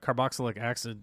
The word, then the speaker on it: carboxylic acid: I don't know how to say carboxylic acid. How do you say it? Let's pronounce it properly.